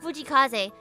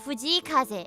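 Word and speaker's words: 藤井風: Like, honestly, it's not Fujikaze. It's like Fujikaze. Or something like that.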